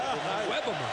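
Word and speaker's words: Iwebema: Good job with that pronunciation, didn't he? I stuttered a little bit, but I got it. Owebama.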